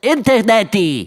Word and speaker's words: internet: So what they usually do is add a very short E sound at the end. Oh, so that means internet is pronounced as interneti. Some people say it that way, but the more common version is interneti. Because if these 3 letters are followed by E, they turn into chi-ji-ji.